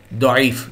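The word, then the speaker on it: ضعيف: অনেক সময় ভাই এটা জয়ীফ হাদিস, এই হাদিসটা জয়ীফ হাদিস, জয়ীফ মানে কি ভাই দুর্বল, এই দোয়াটা বাংলায় জ আমরা উচ্চারণ করি, দইফ হয়ে গেল আমাদের দেশে জয়ীফ, বাংলা হলো জয়ীফ।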